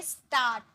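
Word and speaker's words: start: आरंभ करना मतलब शुरुआत करना, उसे हम कहते हैं स्टार्ट, स्टार्ट, इसे आर भी साइलेंट होता है, स्टार्ट, स्टार्ट नहीं बोलते, स्टार्ट, ओके।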